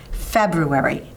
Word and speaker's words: February: just to say February however the R is definitely following the B so next time you feel yourself fumbling on the word remember the BRR in February and make sure to